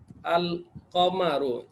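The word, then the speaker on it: القمر: আবার কফটা হবে আল কমারু, এই যে কফটা হবে কামারিয়া হরফ, এটার আগে আলিফ লাম আসলে লামের উচ্চারণ হবে, এটার আগে আলিফ লাম আসলে লামের উচ্চারণ, আল কামারু।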